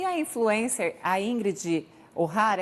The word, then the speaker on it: O'Hara: E a influencer, a Ingrid O'Hara, é assim que se pronuncia o sobrenome dela?